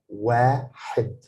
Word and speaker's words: واحد: It's a short vowel because it's not written this kasra, small kasra, this small line under the letter ha. واحد. I pronounce it حد because it's short vowel, but wa because alif is a long vowel, so واحد.